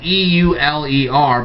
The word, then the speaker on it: Euler: guy named euler now i know his name is spelled e-u-l-e-r but his name is pronounced euler okay and